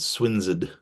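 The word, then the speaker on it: Swineshead: Um, there's a little message that John is not feeling too well and he's gone over to I'm sure it's called Swinsid Abbey, but it's spelled Swines's Head.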